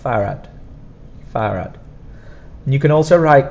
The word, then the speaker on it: farad: 2R but it's not and the D at the end is quite soft farad farad you can also